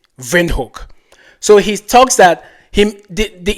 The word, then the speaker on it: Windhoek: Windhoek with a V, Windhoek. So he talks that the email mentions that the pronunciation of Windhoek with a V is not just German, it is Afrikaans.